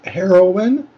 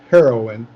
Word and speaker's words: heroine: this word is pronounced heroine regardless of the two ways that it's spelled it's still pronounced the same heroine the next word uh